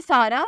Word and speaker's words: SARA: नाम है सारा, स्पेलिंग है SARA।